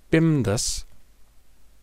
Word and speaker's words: BIMDAS: Bimdas is how we pronounce this word.